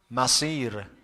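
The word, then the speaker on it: مصير: but I said that one of them is pronounced with Sad, which is the correct one, another one with Sin, which is not what Quran talks about. Masir.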